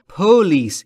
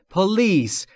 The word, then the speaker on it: police: دقت بکنید دوستان، تلفظ پلیس استرس روی ال و روی پی نیست، یعنی نباید بگید پلیس، این اشتباهه. پلیس اینطوری درسته، در واقع استرس روی ال روی بخش دوم.